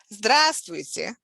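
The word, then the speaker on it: здравствуйте: a formal expression so stress falls on the first syllable so the first syllable is stress stressed so we saying it's like this just which here's an example of reduction of the sound at the end we use letter here we tear but since the stress is on the first syllable it sounds like e drastic drastic that's the formal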